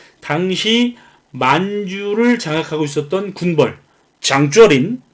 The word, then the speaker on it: 장쩌린: 그런데 일본은 이 만주 지역의 이 삼부를 탄압하기 위해서 당시 만주를 장악하고 있었던 군벌 장쩌린, 한자로는 장장림인데 중국 발음으로는 장쩌린, 이 장주어린과 조선 총독부 경무국장인 미스야 사이에서 이제 미스야 협정을 맺게 됩니다.